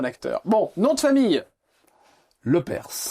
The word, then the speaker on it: Lepers: Bon nom de famille le perse. Rénom prononce bien le s à la fin.